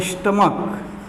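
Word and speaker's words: stomach: अगर स्टमक को आप स्टमच पढ़ेंगे तो ये ई एस लगाकर बनाएंगे, लेकिन ये स्टमक सी एच का उच्चारण च का हो रहा है तो इसमें केवल यस लगेगा, हो जाएगा स्टमक्स।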